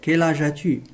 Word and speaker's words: Quel âge as-tu: إذا هنا quel U لا تنطق، S لا تنطق كذلك. Quel âge as-tu?